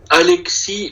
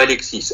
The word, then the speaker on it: Alexis: Attendez, alors on était à Félix, continue, c'est ça, Khaled, Doha, Alexis. Est-ce que c'est Alexis aussi, hein? Pas Alexis. Alexis. Ouais, au Québec général, on ne prononce pas de S.